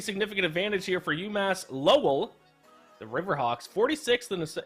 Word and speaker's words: Lowell: Lowell, I believe it's pronounced. Lowell.